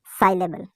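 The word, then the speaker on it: syllable: में बोला जाता है उसे साइबल कहते हैं, साइएबल कहते हैं, साइलेबल कहते हैं। क्या बोलते हैं, साइलेबल, साइलेबल, साइलेबल, साइलेबल।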